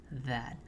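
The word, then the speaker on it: ذ: So they come from the same spot, but you will frown when pronouncing dha and smile when you pronounce dhal.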